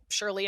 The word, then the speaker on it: Surely: try other flavors but it's shirley and i mean as it surely as it's spelled sounds s-u-r-e-l-y it's surely not alcoholic wine um so